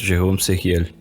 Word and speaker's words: Jérôme Sériel: Mas, fala, Eduardo, como é que é a pronúncia correta? Tá certo, Jérôme Sériel.